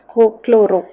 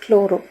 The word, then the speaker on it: chloro: Then followed by chlorine instead of chlorine we have to pronounce it as cooro and this is all